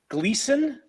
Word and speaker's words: Gleason: And we have Chris Gleason, right? Did I pronounce that correct? Awesome. That's right. Just like Jackie.